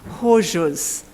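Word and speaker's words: Chorzów: justice in a case we call in English chores of factory but I looked it up on Google and I gather the pronunciation should be something more like horses factory perhaps I'm looking at my polish former student and he's nodding so that may be approximately a right the judgment in any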